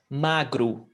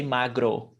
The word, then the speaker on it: magro: e mongi it's written with e but it's pronounced with e o g magru we don't say magro even though there are some accents that do